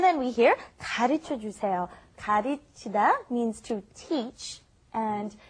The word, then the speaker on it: 가르치다: You've got 가르치다. First of all, the L is right in between the R and L in English. It's more like a D almost.